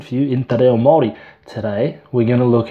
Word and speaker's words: Māori: So muddy would be the short A, and Māori would be the longer A.